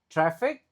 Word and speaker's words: traffic: previous projects we observe traffic eh traffic Eh, A-nya dibaca E, lalu C-nya dibaca kayak K.